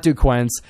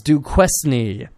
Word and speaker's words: Duquesne: how to pronounce that it's not Duke Quin I think it's Duke quesney they played two games